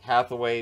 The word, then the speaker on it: Hathaway: lars eller garnett hathaway hathaway very good shift disturber out there i make sure that i pronounce the f in there uh connor sherry sherry's